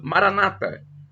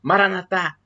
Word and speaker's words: Maranatha: tônica na penúltima sílaba Maranata ou como dizem os católicos o a tônica na última sílaba Maranatha o significado é o